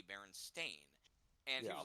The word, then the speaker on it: Berenstain: commented on his belief was that they were spelled with an E, Berenstein, but no, it's with an A, Berenstain.